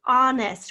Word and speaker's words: honest: definite though do we honest we have a silent h at the beginning of honest so we just had